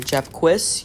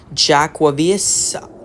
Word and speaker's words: Jaquavius: Alright, Japquis, you can go. Jaquavius, that's how you pronounce it.